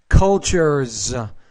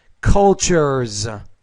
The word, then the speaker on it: cultures: Americans, cultures. So the S, when it's after voiced consonants, it should be pronounced as a Z. Americans, cultures.